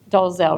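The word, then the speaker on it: Dolezal: example so this lady is named Rachel doelle dozel right that's how you pronounce it do you guys remember did you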